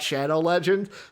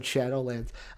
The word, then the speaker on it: Shadowlands: In my head, I thought Shadow Legends, but out of my mouth, I said Shadowlands.